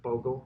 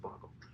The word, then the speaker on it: Bogle: You might be like, oh, did he create Bogle, the game? But it's pronounced Bogle.